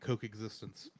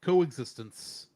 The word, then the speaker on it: Coexistence: I'm going to start calling it Coke-existence. You would. Yeah, that brings us to the end of another episode, which, like we were saying, our next episode is Digimon Adventure Try Part 5 Coexistence.